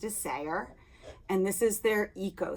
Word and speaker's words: Isager: It's Isager, and it's pronounced Isager.